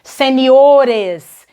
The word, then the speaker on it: seniores: O mesmo vai acontecer com sênior, seniores.